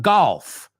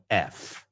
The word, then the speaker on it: gulf: It's not golf. Okay. So, let's let's clear that up right here, too. Golf is the game, right? Golf. Gulf is uh well, uh the what's the word I'm looking for? When we're talking about geography, we're talking about a gulf. All right. Guf.